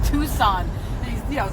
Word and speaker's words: Tucson: yeah Comoros that's like it's Tucson it's spelled tea you see as so answereth oh